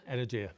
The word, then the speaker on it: Energia: Do you pronounce it Energia? Energia. Energia. Yep.